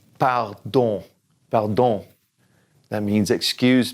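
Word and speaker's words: pardon: know you've heard this don't say the N at the end bow don't about don't that means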